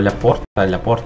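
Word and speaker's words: Laporte: Ілі, як він читається правильно, Ляпорт, Хезе.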